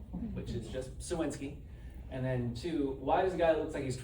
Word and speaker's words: Cywinski: How do you pronounce his last name, which is just Suwinski.